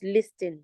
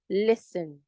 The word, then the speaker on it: listen: pace and course please the word l i s t n is not listen it's not listen to me it is listen the t is silent and no the sound